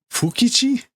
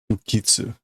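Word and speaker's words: 不吉: Okay, when it's good luck, it's Daikichi, big, great luck. When it's bad, it's Fukitsu.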